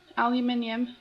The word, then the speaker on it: aluminum: syrup pajamas cot naturally aluminum which by the way is the correct way to say it and envelope the questions